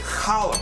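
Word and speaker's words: challah: make Jewish egg bread known as hollow bread or if you say it right Hala bread and we're going to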